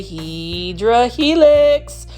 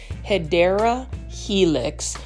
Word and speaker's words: Hedera helix: Say it out loud and say Hydra Helix. Okay, let me get off of that for a minute and just say the correct way to say it is Hedera Helix, or what you call English ivy.